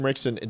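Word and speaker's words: Ritchson: I've changed it to Rickson because I just believe you that's how you say his name. But Alan Rickson, this is a...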